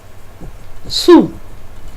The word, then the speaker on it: Sul: Sul. ¿Se acuerdan que la L se pronuncia U? Yo tengo aquí dos U, dos letras U. Y entonces la última también es una U.